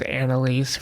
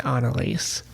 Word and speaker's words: Anneliese: now with an e i tend to say it as anneliese rather than analyse and then we have